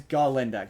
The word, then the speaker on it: Galinda: pronounces says her name like a goat constantly pronounces her name and she's like no no my name's ginda ginda and yeah the thing is like animals